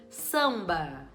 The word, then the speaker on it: samba: uma consoante normal tranquilo agora se eu disser por exemplo samba samba quando eu separo as sílabas eu tenho samba Então esse M ele tá vindo no final da sílaba você vê que até o jeito da gente falar é diferente quando eu vou falar mamãe eu junto meus lábios lá dentro da boca e solto ó M